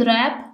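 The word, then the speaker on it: wrap: की जाती for example H in honest जैसे कि ऑनेस्ट में एच साइलेंट है डब्लू इन रैप जैसे कि रैप में डब्लू साइलेंट है के इन नॉक नॉक में के साइलेंट है व पुट द आर्टिकल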